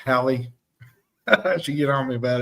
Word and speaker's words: Hallie: Let me pronounce that right, Hallie.